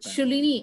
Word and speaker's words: Shoolini: call it as Shalini University that is right Shalini am i right that's the right pronunciation you are perfect okay okay so on behalf of dr.